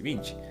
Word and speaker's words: Vinci: Leonardo Piero da Vinch era su nombre, como les dije, nació en Vinchi, si casi se pronuncia ese Vinci Vinchi, un 15 de abril de 1452.